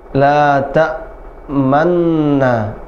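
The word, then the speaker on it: لا تأمنّا: Tetap dibaca man, mau ke nu tapi nggak jadi, hanya mulutnya saja dimonyongkan, harokatnya tetap ma.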